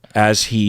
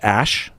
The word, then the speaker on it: Æ: yeah apparently you you it's pronounced Ash and that is supposed to mean Ai and then the a-12